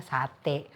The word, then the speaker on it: sate: sebenarnya sate itu kita seharusnya ngejanya tuh S A T A I. ya. Cuman penyebutannya jadinya sate. Dan seperti biasa karena orang Indonesia senangnya yang praktis singkat ringkas jadinya sate gitu aja gitu.